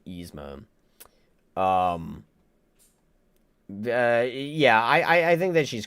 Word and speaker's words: Yzma: Yzma.